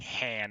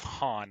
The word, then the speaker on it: Han: He literally practiced the way Billy D. Williams was saying Han instead of Han, like everybody else.